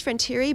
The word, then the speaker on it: Frontiere: Well, it actually is Frontiere, but she used to just say Frontiere because nobody could pronounce it.